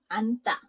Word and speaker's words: 앉다: This one, I'll write down the word 앉다. 앉다. It means to sit. Here also, just pretend you don't see this 찌읒, you just see this ni은, so it's 앉다.